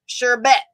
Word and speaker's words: sherbet: Nope, not R in the second syllable, y'all.